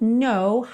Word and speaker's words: know: I'm sorry, you don't know how lovely you are. Então aqui, percebe que o no, esse K é mudo, então você está vendo ele escrito ali, mas na hora de pronunciar ele não soa, então you don't know